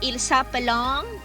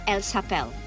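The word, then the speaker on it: s'appellent: look this very closely the ent at the end is always silent so you don't say il sup along elsa belong you say il sapel el sapel okay i'm gonna repeat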